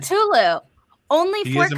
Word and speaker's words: Cthulhu: Now we're getting to Lovecraft's Cthulhu.